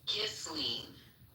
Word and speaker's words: Ghislaine: Say her name once. It's Ghislaine.